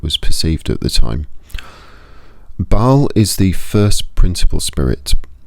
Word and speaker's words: Bael: listed and that is Bal or some would pronounce as Bale or some would pronounce as Bal. I I tend to go for Bal. I think uh I don't think the pronunciation particularly matters too much. I think that's kind of an individual choice on how how you pronounce that. But I go with Bal.